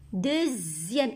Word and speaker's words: deuxième: Je vois X, j'entends Z. Deuxième. Regardez le classement de cette fille. Deuxième. X ici se prononce Z.